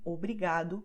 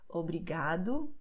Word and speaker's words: obrigado: And that the letter O at the end of the word will be pronounced as U, like in obrigado, como, logo.